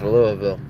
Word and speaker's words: Louisville: So, notice how I say it. I don't say it like a northerner. It's Louisville.